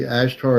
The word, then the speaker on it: Ashtar: And so it's actually Ashtar Athena, ASHTAR, for the pronunciation when she was living on Earth.